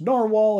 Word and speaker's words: Nahvalur: name and while the new name is still pronounced narwhal it has a different